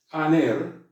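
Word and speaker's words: ἀνήρ: Esto significa que la palabra tiene que ser pronunciada, en este caso la vocal que comienza, con la cual comienza la palabra, tiene que ser pronunciada como la pronunciamos nosotros en castellano, como una A, simplemente.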